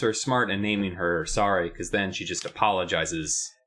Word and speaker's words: Sari: And it's S-A-R-I, Sari. And also it sounds like the word sorry, as if she's a sorry excuse for a good kid, because she's awful.